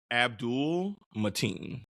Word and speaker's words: Abdul-Mateen: Yahya Abdul-Mateen. Abdul-Mateen. Yeah, it kind of reads the way it looks. Gotcha.